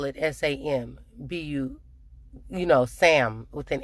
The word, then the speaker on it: Sambusa: So I asked my waiter yesterday, I said, how do you pronounce this? And she said Sambusa. And I said, well, when I looked it up online, it says Sambusa, S-A-M. But she said it's S-A-N.